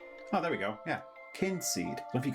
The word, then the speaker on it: Kynseed: How to pronounce Kynseed. Should we try that? Kynseed. Oh, there we go. Yeah. Kynseed.